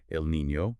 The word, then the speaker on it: El Niño: Just to be precise for you on the terminology, that is El Niño, pronounced El Niño. Mhm. The Niña sounds like the Niña in canyon.